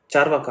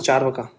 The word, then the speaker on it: Charvaka: materialistic and all okay charakas Pronunciation Charvaka. Okay. See, it's Charvaka.